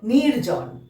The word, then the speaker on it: নির্জন: কারণ বর্গীয় জয়ের মাথায় রেফ রয়েছে, ঠিক তার আগে আমরা র উচ্চারণ করলাম, তাই কি হলো? নির্জন।